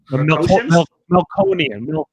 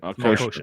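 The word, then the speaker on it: Melkotian: Melconian. Yeah. I can't pronounce it. Melkoshian. That's it. Melkoshian.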